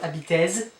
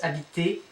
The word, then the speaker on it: habiter: Vous habitez, habiter, et, habiter. So it's not habitez, it's habiter, et.